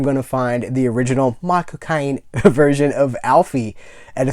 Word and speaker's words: Michael Caine: And just in case you pronounce Michael Caine's name, My Cocaine. Michael Caine.